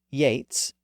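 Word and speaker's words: Yeats: s h EA Batty B A TT y Yates ye a TS Sheamus s a m s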